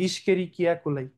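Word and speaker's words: Escherichia coli: ইশকেরিকিয়া কোলাই। এটার উচ্চারণ কি করো তোমরা?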